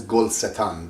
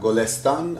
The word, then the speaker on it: گلستان: Sometimes it says gol setan, but in fact right now you can pronounce it in the right way.